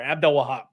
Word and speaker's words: Abdelwahab: Abdelwahab. Abdelwahab. Okay, so there it's an extra syllable in there. Abdelwahab.